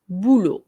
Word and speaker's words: boulot: এখানে আমরা টিটা উচ্চারণ করব না আর এখানে শুধুই বলবো বুলো, le boulot.